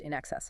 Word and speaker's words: INXS: By 1979, they'd changed the name to INXS, pronounced in excess, of course, started playing into that name September 1st 79.